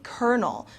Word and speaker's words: colonel: from the safe okay this one is not pronounced at all the way it's spelled this is actually colonel which is an officer